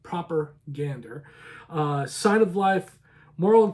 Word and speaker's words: Propagander: Propagander, and that's spelled Proper, Gander, Gander, not propaganda, but proper Gander.